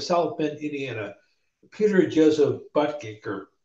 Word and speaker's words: Buttigieg: The current mayor of South Bend, Indiana, Peter Joseph Buttigieg, or Buttigieg.